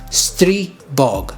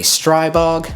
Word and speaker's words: Stribog: gotten the name wrong the correct way to say it is stre bog stre bog it's not a stribog I am guilty of saying stribog but I've learned it since and it's the Stog